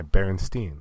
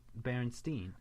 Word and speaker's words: Berenstain: to this but but it's actually spelled like s-t-a-i-n like stain yeah i know it's crazy that's not right at all everyone pronounces it berenstein i want to go